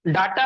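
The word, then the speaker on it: data: तो वो डाटा होता है, उसी को हम लोग डेटा बोलते हैं, ठीक है ना। लेकिन सब लोग प्रोनाउंसिएशन में डाटा डाटा सब लोग बोलते हैं।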